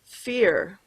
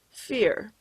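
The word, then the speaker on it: vier: now you know that four is pronounced fear the v makes more of an f sound fear let's count how many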